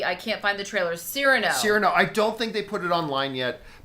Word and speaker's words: Cyrano: Cyrano.